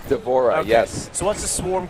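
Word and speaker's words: D'Vorah: davor to do is it how do you pronounce her name devorah is that right devorah yes so what's the swarm queen very she's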